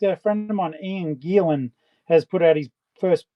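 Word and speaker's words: Gielen: Oh, and fun fact, a friend of mine, Ian Gilan, has put out his first um book today. Um, Gilan is spelled G I E L E N.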